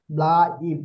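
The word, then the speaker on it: bleib: ব্লাইব, ব্লেব ব্লাইব, ব্লেব ব্লেব গ্যাজন্ড। ব্লেব না, ব্লাইব। আ আই বি এল, এরপর আই ও উচ্চারণ হ্যাঁ, হবে।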